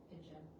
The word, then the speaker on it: pigeon: learning that knowledge of the soft G in pigeon means I read it with a soft sound. So do I use the G or do I use the J? Well, I know that soft C and soft G all have an I, E or Y following them. So I use the soft sound. So I pronounce it as pigeon.